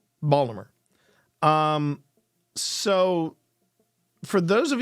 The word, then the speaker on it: Baltimore: collapse in Baltimore and that's how you're supposed to pronounce it Baltimore um not Baltimore Not Baltimore Baltimore um so for those